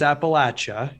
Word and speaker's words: Appalachia: It's Appalachia. Say it right.